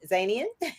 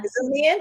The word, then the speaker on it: Ouzoonian: I want to just reiterate that we are interviewing Amy Zanian, and we are Union, yeah, Ouzoonian. I said it right the first time.